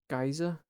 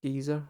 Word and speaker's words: Geyser: The first song is called Geyser, or Geezer, however you want to pronounce it.